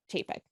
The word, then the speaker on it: Chapek: something about going back to Bob Chap and chapek I mean and no you said right the